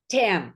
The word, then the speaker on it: Tham: Tam, yes, Tam. the H is silent.